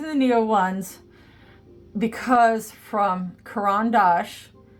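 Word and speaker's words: Caran d'Ache: Neo ones because from Karan Dash which is by the way how you say it not kendos it's karandash they're Swiss Swiss um they're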